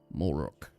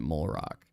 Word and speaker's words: Molrook: I could have named him Molrock, but I named him Molrook. And then I only pronounced it Molrock.